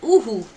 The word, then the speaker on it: Uhu: the owl is that in German, an eagle owl is called Uhu, and it's spelled U-H-U, and it's called Uhu because that's the sound they make. They go Uhu, Uhu.